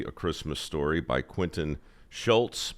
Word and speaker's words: Schultze: Life Lessons from the Movie A Christmas Story by Quentin Schultze. There's an E at the end, but he doesn't pronounce it.